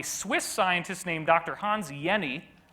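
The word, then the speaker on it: Jenny: scientist named Dr Hans Yenni even though there's a J in his name you pronounce it without the J sound like a y and he studied what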